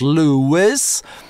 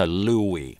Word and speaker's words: Louis: Американцев как правило зовут Lew-iss, но когда говорят о французских королях, опять-таки, это обычно Lew-ee.